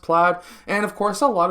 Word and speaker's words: Plaid: thought that the title i would be saying played it's actually pronounced plaid and of course a lot of people are